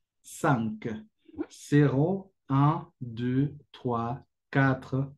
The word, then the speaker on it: cinq: Se escribe así, como zinc, pero la pronunciación será de esta forma: cinq, cinq, cero, un, deux, trois, quatre, cinq.